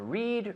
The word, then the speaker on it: read: read read read yeah because i need to hear that d read read read at home read read read because in spanish spanish people tend to drop the d what what city